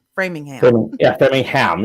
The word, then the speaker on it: Framingham: Framingham, yeah.